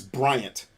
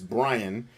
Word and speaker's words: Bryant: is my name is bryant my name never doesn't get fucked up because people think it's brian because they think my